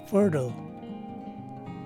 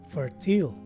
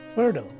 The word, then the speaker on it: fertile: almost negligible and lastly the letter e at the end of the word is dropped so basically this word is pronounced as fertile as opposed to fertile and if i were